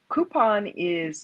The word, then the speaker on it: Coupang: Um, Coupon it's spelled COUPANG.